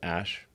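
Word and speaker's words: Æ: So, I mean, it's just X, the letter X, and then the AE is like pronounced Ash.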